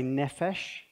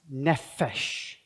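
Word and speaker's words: נפש: We're going to say nefesh, and we're going to say, and I want you to say it sort of really exaggerating the consonants, nefesh.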